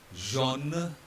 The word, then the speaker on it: jaune: Right, so ignore the X first of all, and then all these spellings have the same sound, which is O. They all are to be pronounced as O. H will remain silent.